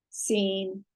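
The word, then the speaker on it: שׂ: The seen with a dot to the left, sinestre, whose left, is pronounced S. Sheen, sh, seen, s.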